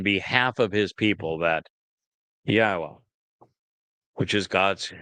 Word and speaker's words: Yahweh: It is through the Torah and on behalf of his people that Yahweh, which is God's name properly articulated based upon Chaya and Torah, which provide us with the instructions on how to pronounce it.